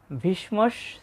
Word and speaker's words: ভীষ্ম: এখানে দেখুন অনেকেই ভিশ্ব বলে। আসলে বাংলাতে ভিশ্ব বলা যায়। কিন্তু সংস্কৃততে আমরা জানি যে যুক্ত বর্ণের প্রতিটি বর্ণই উচ্চারিত হয়। সেক্ষেত্রে প্রথম বর্ণটা অর্ধেক উচ্চারিত হয় এবং পরের বর্ণটা পুরোটা উচ্চারিত হয়।